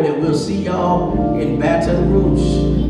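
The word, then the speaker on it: Baton Rouge: y'all in batt rou they tell me I don't say it right this that's how you supposed to say it with a little a little flare on it so it's B rou is what they say that's how you're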